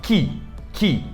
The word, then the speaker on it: key: É a mesma lógica, por exemplo, de chave, que se escreve Q-E-Y, então é o key, só que a gente fala key.